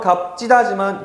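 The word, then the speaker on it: 값지다: 발음은 갑지다지만 그렇게 하지 않습니다. 형태음소적인 표기 때문에 그냥 원래 모양 그대로 하는 거예요.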